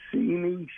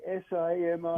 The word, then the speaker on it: Simi: One you heard very often, Simi Chardonnay, and then I have a Cabernet Sauvignon from Joel Gott.